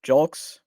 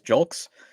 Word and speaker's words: Julks: outfielder Cory jul uh julks hopefully I'm pronouncing that right I looked it up and I think it says julks he's 28 comes over from